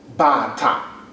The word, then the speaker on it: bata: After that, bata. Bata. B-A-T-A. Bata. The tone that goes with that helps you pronounce it properly, will be do, do. Ba, ta, do, do.